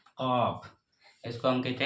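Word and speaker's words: ق: इसको हम कहते हैं कॉफ। इसको हम कहते हैं कॉफ। इसका प्रोनाउंसिएशन होता है क।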